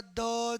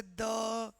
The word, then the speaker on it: the: द दी इधर बोलने का जैसे द है ना टी एच ई के बाद में कोई वॉल साउंड से आए जैसे इवेंट तो इट इज़ दी इवेंट। ठीक है? और टी एच ई के बाद में क्या हुआ भाई साहब टी एच ई के बाद में अगर अ कोई कंसोनेंट से वर्ड आए जैसे प्रॉब्लम ये पी है तो दिस इज द प्रॉब्लम ठीक है ये अ